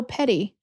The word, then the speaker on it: petit: do you say it it looks like petite with no e is it peted Larsen or petite P larsy oh Petty oh it's not P TT y Petty I guess not no